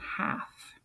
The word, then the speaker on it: half: is throughout this chapter it has a silent L in it you don't hear the L in half just sounds like it would be H al HAF but it does have an L in there half half of the